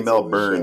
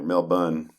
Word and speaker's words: Melbourne: You saw If you say Mel Burn, they know you're an outsider. Mel Bun is uh you're you're a local or at least you know how it's pronounced.